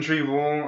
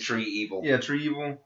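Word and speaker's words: Trakeena: it though I noticed they keep saying tree evil yeah instead of treil they they should have just gone for the treil yeah it rolls off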